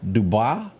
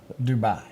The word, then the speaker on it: Dubai: New York student was in dub did I pronounce that country Dubai Dubai yeah I don't even know where it is